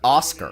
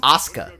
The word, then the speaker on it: Asuka: Just like they call Asuka Oscar. Her Who? name's Asuka.